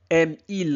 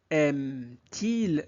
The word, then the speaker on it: aime-t-il: Aime il la musique ? ou bien aimetil la musique ? Donc ici, sans le t, la phrase aime il la musique serait très difficile à prononcer à l'oral.